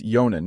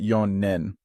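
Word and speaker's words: 四年: could you pronounce and write Nisa nijuyonen and remember it's yonan not yon nen as we learned earlier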